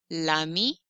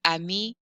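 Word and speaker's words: l'ami: flow and sound smooth i don't want to say ami university that sound is gross and french doesn't like it so they'll say la mi lu universite uh that doesn't count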